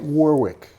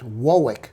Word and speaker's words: Warwick: It's like Warwick, Massachusetts, and Warwick in the UK. And if you say Warwick, they laugh at you. Well, it's not quite Warwick. It's Warwick.